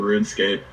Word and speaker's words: RuneScape: Because when I was a kid, that's until someone verbally told me that it's pronounced RuneScape. I always thought it was RunEscape.